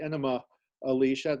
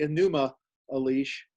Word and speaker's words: Enuma Elish: the enuma elish or you sometimes hear pronounce the enema alicia that sound was too much like a medical uh uh cleansing procedure uh so i usually say enuma a leash uh the enuma elish